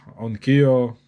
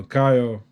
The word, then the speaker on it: Onkyo: Next item, guys, is this Onkyo or Onkayo. A lot of different people pronounce it differently.